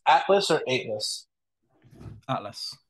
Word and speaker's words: Aetlas: think so right all right Harry is it pronounced Atlas or Atlas Atlas spelled the Greek way that's what I thought